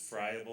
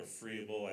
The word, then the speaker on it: friable: And they have a universal veil that's very fragile, or we call this friable or freeable. I've heard it pronounced both ways.